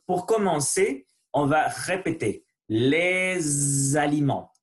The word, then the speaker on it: les aliments: Donc, pour commencer, on va répéter les aliments. Faites attention à la prononciation de le S. Les aliments. Il faut vibrer le son S, Z, S, Z. C'est différent. Et les aliments. Voilà, les aliments.